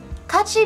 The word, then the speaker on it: 같이: 같이 means together. Separately, their characters are pronounced as 가-이.